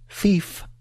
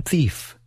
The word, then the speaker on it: thief: Thief ends in the consonant sound f. This is a voiceless sound.